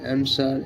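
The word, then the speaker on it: answer: এস ডব ই আরশার এন এস ডাবলিউই আর এন্সার এটা আবার আমাদের অনেকেরই জানা আছে গাইস তো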